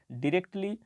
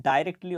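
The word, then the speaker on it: directly: commented তিনি মন্তব্য করেনি ডিরেক্টলি বা এটাকে আমরা উচ্চারণ করতে পারি ডাইরেক্টলি অর্থাৎ সরাসরি অন দ্যা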